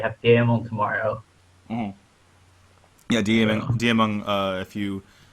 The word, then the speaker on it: Diamond: Yeah, Diamond, if you, or as they pronounce his name at BlizzCon, Diming, is going to be playing tomorrow.